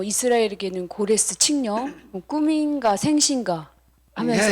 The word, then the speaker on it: 고레스: 바빌로니아가 멸망을 멸망시킨 사람이 그 고레스 어 뭐 이제 영어식 발음으로 하면 사이러스 이렇게 얘기를 하는데이 사람이에 바벨론을 멸망시키는